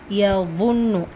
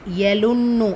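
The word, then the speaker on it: يظنون: யظுன்னு யலுன்னு அப்படின்னு சொல்லாதீங்க. இந்த லெட்டர் வாவுடைய உச்சரிப்பு நம்மளுடைய சேனலில் தஜ்வீத் மஹ்ரஜ்னு சொல்லிட்டு தனியாக பிளேலிஸ்ட் இருக்குது. ஸோ எல்லா எழுத்துக்களுடைய உச்சரிப்பும் அதில் நம்ம மென்ஷன் பண்ணிக்கோம். ஸோ நீங்கள் அதில் கூட பார்த்து தெளிவு பெறலாம். இது யலுன்னு கிடையாது, யظுன்னு. சரிங்களா?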